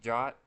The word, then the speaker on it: JWT: JSON web token pronounced jot is an open standard RFC 7519 that defines a compact and self-contained way for securely transmitting information between parties.